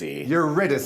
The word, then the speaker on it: Eurydice: Eurydice.